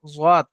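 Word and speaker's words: ضاد: যেখান থেকে উচ্চারণ হবে, জিভের কিনারা এবং ওই বরাবর তার বরাবর উপরে মাড়ির দাঁতের গোড়ার সাথে লাগিয়ে, জিভের এই কিনারাটাকে আপনি ডান দিকে হোক বাম দিকে হোক, যে মাড়ির দাঁতগুলো আছে মাড়ির দাঁতের গোড়ার সঙ্গে লাগিয়ে উচ্চারণ করতে হয়।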